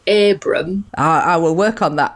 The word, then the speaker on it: Abram: I'm Abram. It's got 5 letters in it, and I think it originates from Lancashire. So if you say Abram...